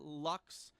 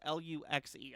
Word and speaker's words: Luxe: The Birkenstock 1774 Milano Raffia Luxe sandals. Luxe. I've been told that is pronounced Lux.